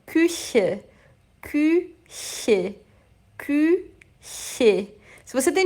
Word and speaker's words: Küche: dos dentes de baixo, abre a boca num sorriso e sopra. Küche, küche, küche.